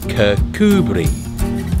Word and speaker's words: Kirkcudbright: Today, I'm in one of the most popular towns in the south of Scotland, Kirkcudbright. Ah, yes, that pronunciation. Ignore the spelling, it's Kirkcudbright, with emphasis on the coo.